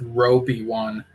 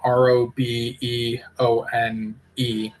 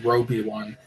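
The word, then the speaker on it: RobeOne: But October 9th, I was able to watch the stream for this musician I wasn't familiar with, Roby One. And that's spelled R O B E O N E.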